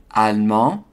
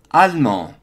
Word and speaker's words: allemand: So that E is often pronounced as allemand, or in the feminine form, allemande, in southern France or regions where all of the syllables are pronounced.